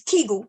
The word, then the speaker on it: Kegel: that say Tango muscles it's Kegel by the way okay um but okay you can pronounce how you want um so the vagina